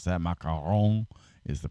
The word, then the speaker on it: macaron: or ma macaron if you know how to pronounce that macaron is the correct way macaron it's French it's a cookie actually they're they're